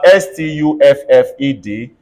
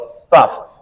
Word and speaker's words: stuffed: better thank you thank you if I have s-t-u-f-f-e-d it's going to be pronounced as what stuffed everybody says stuffed thank you let's move on